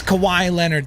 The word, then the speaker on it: Kawhi Leonard: It's Kawhi Leonard. That's how you say the name, okay?